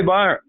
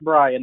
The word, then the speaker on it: Byrian: And take it away, Byron. Brian. It's actually pronounced Brian. That's right. That Y will trip us up for the rest of my life.